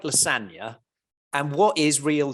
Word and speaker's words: lasagna: Move in silence, like lasagna, the G in lasagna is silent.